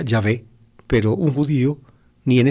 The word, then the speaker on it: Yahvé: ustedes buscan en hebreo estarían las cuatro consonantes yod he vao je que se pronunciaría o se pronunciaría yahvé pero un judío ni